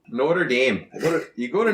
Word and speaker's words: Notre Dame: the school, football school, Notre Dame, is that really how it's pronounced? No, not in South Bend. I didn't think so. In South Bend, it's Notre Dame. Notre Dame. You go to Notre Dame.